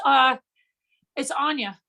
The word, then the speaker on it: Aine: I'm assuming that we pronounce it Annie. I'm going to ask you to unmute. How are you? It's Anya, but Anya.